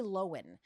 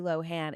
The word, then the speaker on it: Lohan: uh popular with and Lindsay loen not Lohan it's not Lindsay lowan it's Lindsay loen it is um I